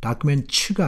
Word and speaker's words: documents: 그래서 documents, documents가 아닙니다. documents. Reveal the grim reality.